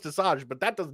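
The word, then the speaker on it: Asajj: watched the shows I know that it is pronounced Assange but that does not look how it's spelled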